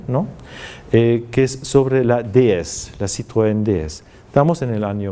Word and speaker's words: DS: DS, pero pronunciado, una palabra, digamos unas siglas pronunciadas a la francesa significan diosa.